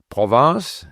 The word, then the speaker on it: Provence: So, for example, Provence is an area of France, in southern France, a beautiful area of France. Province is province, so you can't confuse the two.